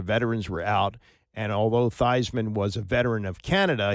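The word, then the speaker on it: Theismann: That's when they started to call him Thesman, which is, you know, Joe Thyman's real name. But Roger Valdisteri, the sports evation director at Notre Dame, said change it to Thyisman because it rhymes with Heisman.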